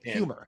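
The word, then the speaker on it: Huemer: philosopher Michael Hummer and humor humor humor and one of humor the H is not silent it's it's basically pronounced like someone who's funny humor like like the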